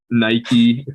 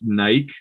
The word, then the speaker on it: Nike: So but I'm pretty sure that it is actually pronounced Nike in Greek mythology. So everyone else is actually technically right, but in English we say Nike.